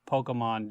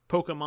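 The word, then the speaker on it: Pokémon: I want to note the fact that you both are saying Pokemon differently. How am I Elliot's saying it? saying Pokemon, and you're saying Pokemon. I'm saying it correctly. Pokemon. Potato, potato. Yeah, potato, I believe is what. It doesn't matter. Who cares? Yeah. Say both. Potato, tomato. Say both. Yeah, I think they're interchangeable.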